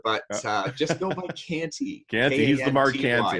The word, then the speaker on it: Kanty: just go by Canty.